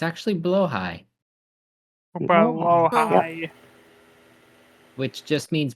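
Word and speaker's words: Blåhaj: share with you a different pronunciation that people always get wrong. The IKEA shark. Actually, not blahage as everyone calls it. It's actually blowhigh, Below high.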